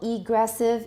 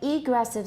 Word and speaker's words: egressive: Which part do we stress? For example, egressive, ingressive. For these two, what are we going to stress? Normally it's egressive, ingressive. However, when we contrast them, what do we do? Egressive and ingressive. We move the stress so the listener can hear which part is contrasting.